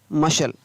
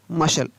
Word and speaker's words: muscle: मशल, क्या पढ़ेंगे? मशल। MU का म, S का स और LE का ल, यहाँ पर C उच्चारण नहीं हो रहा है, मशल।